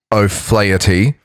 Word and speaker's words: O'Flaherty: It's pronounced O'Flaherty. There you go. Is how it's pronounced. Really, really close. So he was the heir to the chief of the clan O'Flaherty.